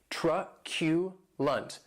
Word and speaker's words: truculent: Truculent. That last syllable has the schwa.